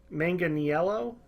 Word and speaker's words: Manganiello: and it is going to be Joe main Manganiello I think it's how you say it it's